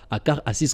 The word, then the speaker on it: Akarassis: Moi, je prononce ça, Akarassis, comme on le prononce là chez nous.